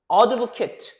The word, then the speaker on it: advocate: Advocate advocate라고 읽으면 동사인데 advoc이라고 읽으면 명사가 돼요.